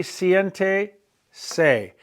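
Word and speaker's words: siéntese: dead person would be Cente say there's an accent on the E way at the beginning of the word Cente say tell a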